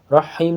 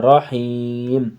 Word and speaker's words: رحیم: بسم اللہ الرحمن الرحیم۔ رحیم نہیں کرنا ہے، رحیم۔ حمزہ نون زیر ان،